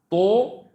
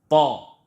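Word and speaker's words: ط: To, no, wrong. Ta. All of you can say with me, Ta, Ta, Ta.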